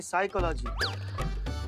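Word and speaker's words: psychology: तो साइकोलॉजी नहीं साइकोलॉजी P silent होता है।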